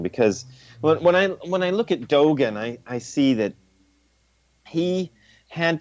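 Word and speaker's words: Dōgen: And Dogen, is that the way you say his name? Dogen, thank you.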